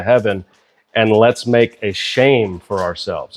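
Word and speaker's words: שֵׁם: When you look this word up, name, in the Hebrew language, it's pronounced shame, which is interesting, right? It's not the actual Hebrew word, but the way that you pronounce it in Hebrew is shame.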